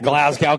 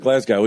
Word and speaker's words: Glasgow: You're gonna get a Glasgow kiss there, Brian. Yeah. I don't think Glasgow either. It's Glasgow. I almost got a Glasgow smile because I fucking mispronounced that too.